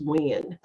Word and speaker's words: Nguyen: His last name, you would think, no way that spells Wynn. His last name is spelled Nguyen.